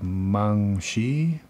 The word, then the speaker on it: Meng Qi: as I know it's supposed to be pronounced something like monkey anyway if I were